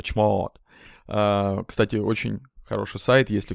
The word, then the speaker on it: chmod: как ее произносят англоговорящие они произносят точно так же только чуть более долго chmod кстати очень хороший сайт